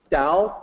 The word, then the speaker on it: Dao: So you'll notice that the pinyin is Dao with a D, and the English word is Dao but with a T, but still should be pronounced with the D sound, Dao.